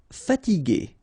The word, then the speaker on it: fatiguer: Okay, remember that we had this G and E normally, so G, E, R without the U should be pronounced like G. Okay, so if you want to modify the sound and then to have this G, okay, you will have to add this U between the two. So now you get G, okay, fatiguer. Consentir, nasal, consentir.